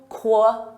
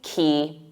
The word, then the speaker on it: quay: There's no Quay sound in it. It's simply key, like a key to your house.